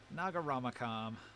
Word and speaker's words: Nagaramakam: I like to split it into the 3 syllables. Naga, like the snake ladies. Naga. Rama, which is like Hindu deity Rama, and Kam. Nagaramakam.